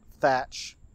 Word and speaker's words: Thatch: And they actually pronounce it like thatch. Yep, and it's spelled like the covering on a house, like thatch, yep.